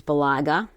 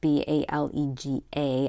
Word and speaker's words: Balega: I use Balaga. I think that's how you say it, Balega.